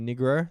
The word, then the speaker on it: Nigro: standup comedian from Melbourne my name is negro that's how it's pronounced it's very it's a